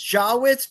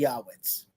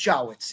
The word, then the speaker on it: Jawitz: It's Jawitz. But if you want to go like the old world Yiddish, it'll be Yahawitz. Yes. I always pronounce it Yawitz, but I I don't It's Jawitz.